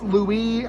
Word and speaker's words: Louis: kinda because louis lewis louie i i pronounce it louis because i'm from saint louis and lewis the vampire